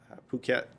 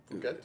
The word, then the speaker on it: Phuket: We get off the ship and we were in Phuket, Thailand, which is spelled fuck it. Phuket?